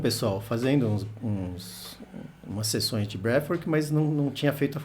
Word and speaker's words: breathwork: Fala com F mesmo, breathwork.